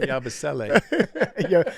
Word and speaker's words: Yabusele: It's Gershon Yabusele.